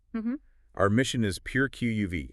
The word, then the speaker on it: Qμν: An exclusive deep dive into Q theory, that's pronounced QUV. Yeah, QUV.